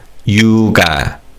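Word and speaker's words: 육아: And in terms of pronunciation, kio carries over. So this is yoga. Let's say this word together. Yuga.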